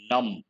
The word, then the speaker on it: numb: sensation then we use the term num the letter b is silent deprived of the power